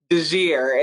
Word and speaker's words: DeJear: And so now I'm stuck with another name that's difficult for some to pronounce, Deirdre DeJear.